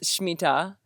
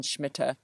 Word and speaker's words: Shmita: pronunciation for Shmita is Shmita. I have been using the Ashkenazic pronunciation Shmita, but I wanted to highlight the Sephardic pronunciation Shmita.